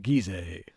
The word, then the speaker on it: Giza: in Egypt because I've never heard anyone pronounce it the way this film does. Here on the plateau of Gizeh. It's Giza, right?